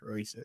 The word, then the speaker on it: Roicia: hear it, like, okay, Roicia, easy enough. Usually with Black folks, I gotta be like Moesha, and then with Latino or Hispanic folks, I gotta be like Alicia because of the way it's spelled.